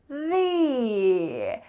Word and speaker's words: the: So when we have the plus a vowel, we need to say th-ee opposite usually.